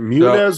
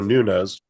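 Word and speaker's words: Nuñez: Is it Munez or Nunez? Nunez. I think it's like Okay. with an N. Nunez. Anyways, I pronounce it Nunez.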